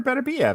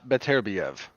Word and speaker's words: Beterbiev: bit so which part i said archer better be that's how you pronounce it no uh better biev um he is taking